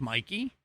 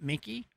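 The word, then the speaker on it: Mikie: I think it's Mikey, not Sher, not Mickey. I keep wanting to say Mickey because I mean, she is kind of funny like Mickey Mouse.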